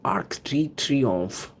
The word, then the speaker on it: Arc de Triomphe: This is a fantastic Arc de Triomphe of France, Paris.